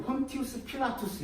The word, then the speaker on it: 본디오 빌라도: 못 박기에 넘겨준 그 본디오 빌라도라고 있죠. 그 신약 성경에 보면 예수님을 넘겨준 본디오 빌라도, 본 발음은 폰티우스 필라투스 이렇게 되어 있어요. 로마식 발음이.